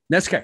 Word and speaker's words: NESCAC: NESCAC.